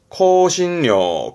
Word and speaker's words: 香辛料: 발음은 코신료, 코신료.